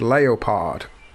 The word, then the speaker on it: Leopard: But they insisted that the team be pronounced Leopard, which I thought was odd.